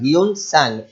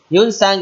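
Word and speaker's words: Hiuen Tsang: Here T is silent, so we will pronounce as Sang. Hyun Sang. Hyun Sang wrote the writings called as Siyuki.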